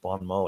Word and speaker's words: bon mot: in French you meant you have to say Bon Mo in French all right um so